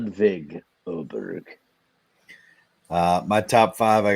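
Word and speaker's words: Ludvig Åberg: right I thinkg sorry W is usually pronounced like a V Trent LV there's no W in his first name oh yeah I said love but the but the a with the circle on top is pronounced as an O I believe yeah I got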